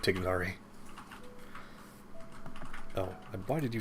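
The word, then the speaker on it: Tighnari: more sense than sumeru you're already mispronouncing anyway with tainari instead of tignari oh and why did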